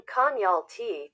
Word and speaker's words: Konyaaltı: The name Konyaaltı, pronounced Konya, at, originates from the expression of Koy Alti, which in the Turkish language means the bay under the cliffs.